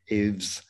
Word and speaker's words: Ave: And today we're going to talk about coaching and Ave's e-commerce startup. I hope that I have the pronunciation of your name correct.